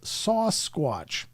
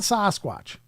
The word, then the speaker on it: Sasquatch: Someone who's a member should ask why he still says sauce squatch. He spells it out sauce and then squatch. Not Sasquatch.